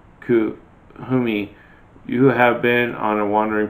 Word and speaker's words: Kuthumi: Kuthumi, pronounced Kuthumi, is an ascended master who appears as a well-dressed Indian man with a golden aura.